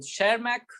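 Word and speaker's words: Tschermak: और तीसरे साइंटिस्ट है ई वी टी साइलेंट, सब कुछ साइलेंट मैक। ठीक है, वो अपने लैंग्वेज में बोलते रहे खुद का नाम, है ना। तो शेरमैक, दिस इज व्हाट द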